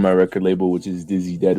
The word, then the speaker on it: Diiziided: I'm a part of I own my record label, which is Dizzy Dead Records. That is spelled DIIZIIDED Records.